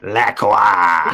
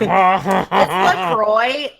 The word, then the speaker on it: LaCroix: Just took a Take big a swig of drink LaCroix.